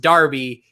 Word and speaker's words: Darby: Apparently it's not pronounced Derby. It's pronounced Darby, despite very much looking like it is pronounced Derby.